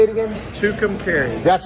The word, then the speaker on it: Tucumcari: yeah yeah how do you say it again tucumcari that's right two containers new mexico i i'm